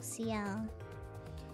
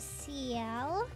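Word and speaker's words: Ciel: You pronounce it seal, not seal. Yeah, like cuz it's a C and L, you know? C I E L.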